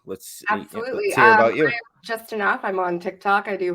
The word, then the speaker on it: JustineNUFF: I'm joined tonight by JustineNUFF, right?